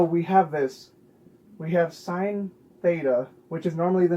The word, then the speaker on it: sine: trigonometry this is pronounced sine when you spell it out it's s-i-n-e it's not sin it's sign imagine how many people